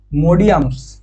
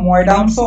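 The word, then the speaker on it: Moidams: আরেকটা হচ্ছে তোমার মোডিয়ামস, ঠিক আছে, বা ময়ডামসও অনেকে উচ্চারণ করে, মোডিয়ামস বা ময়ডামস।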